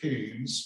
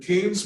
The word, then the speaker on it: Keynes: is Jonathan France Keynes it looks like Keens uh it's spelled almost like Alicia Keys being the singer but Keynes was an interesting character